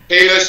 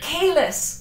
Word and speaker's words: Queylus: Quelus with a K. Quelus, good.